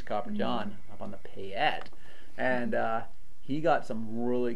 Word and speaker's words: Payette: Which he's probably closer at the pronunciation than we are, because I think it really is Payette, but we call it Payette because it's just how we are.